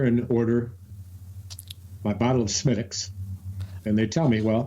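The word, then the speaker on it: Smithwick's: At the local pub, I enter and order my bottle of Smittix, and they tell me, well... I'd like a Smittix, please. It's spelled Smithwicks, but they don't pronounce it that way.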